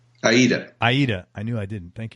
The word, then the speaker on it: Aida: In addition, Mike's played guitar for national tours of Broadway shows like Mamma Mia, Rent, Ada. Did I pronounce that right? Aida.